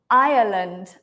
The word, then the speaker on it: Ireland: yeah right Ty people Ireland I I this one is almost like two syllables irand irand Iceland Island